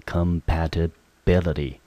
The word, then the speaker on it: compatibility: ty 念成 t，中音节我们落在第四个音节。